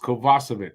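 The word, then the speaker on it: Kovacevic: lineup Jonathan kovasovic because that's how apparently it's pronounced kovasovic so Jonathan kovasovic out stral in and apparently yesterday Colin white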